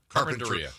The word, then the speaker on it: Carpinteria: Is it called Carpinteria? I don't know. Whatever. Oh, it's Carpinteria? No, Carpinteria. Carpinteria. Yeah. So you pronounce it Carpenter and then Ia.